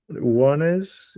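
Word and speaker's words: Ouannes: Uh, Mortada Ben Wanes, which is spelled o u a ne.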